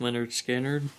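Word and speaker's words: Lynyrd Skynyrd: all uh prince uh winner skinner pronounced leonard skinner just another you know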